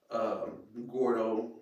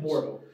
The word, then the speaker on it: Mordo: Gordo, I can't never pronounce my man's name. Mordo, I think. Oh, Mordo. I Yeah, it's Mordo. You're right.